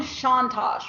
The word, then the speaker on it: Chontosh: right that's correct okay so it's Sean Tosh right okay my journalist to create a curiosity